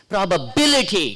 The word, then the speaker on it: probability: All ITY words will have third syllable from the last stress.